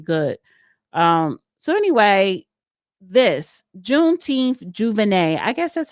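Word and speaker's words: J'ouvert: So anyway, this Juneteenth Juvenet. I guess that's how you pronounce it. Jouvert. Okay. Juver.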